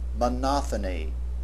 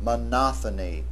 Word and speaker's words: monophony: Notice the difference in pronunciation. Monophony, monoponic. The accent is on the second syllable in the noun form and on the third syllable in the adjectival form. Monophony monoponic.